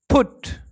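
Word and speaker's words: put: তবে এর একটি ব্যতিক্রম রয়েছে, পিইউটি, ফুট। এখানে দুটি কনসোনেন্টের মাঝে ইউ থাকলেও এটা আ উচ্চারিত হয়নি, উ উচ্চারিত হচ্ছে, ফুট।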